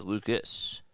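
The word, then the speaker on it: Lukes: And Nathan Lucas fouls it up. It's interesting. You know, his last name is spelled like Luke's, but the pronunciation according to the pronunciation guide is Lucas.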